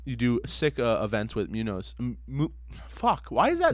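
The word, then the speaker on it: Muñoz: Munoz. You can say Munoz. You can say Munoz. Most people just say Muzzo or Munzo or just they don't say it right. Fuck that. We saying it right.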